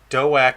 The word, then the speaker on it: Doak: Doak is pronounced doke with a D in the front. Doke.